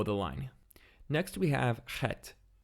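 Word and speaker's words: חית: Next we have Chet. Chet is another pharyngeal consonant, just like Ayin. It's pronounced slightly differently in modern Hebrew versus biblical Hebrew. In biblical, it's a rough H sound, like Ha.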